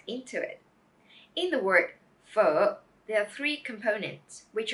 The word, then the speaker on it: Phở: make for this vowel it's just like the earth sound in English as in her other word or fur now let's get the